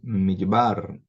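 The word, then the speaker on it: מדבר: Midbar. Então, tinha uma longa aqui. E por quê? Porque eu tenho aqui a tonicidade em bar, midbar, que é deserto, midbar.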